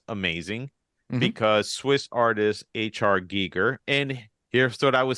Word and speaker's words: Giger: so I need to know how do you pronounce your name he go and he goes Giger really straight from the horse's mouth okay so I a lot of people say guer so here's why because one of his books